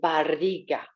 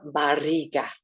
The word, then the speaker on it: barriga: In Spanish, la barriga. Try to roll your R. La barriga.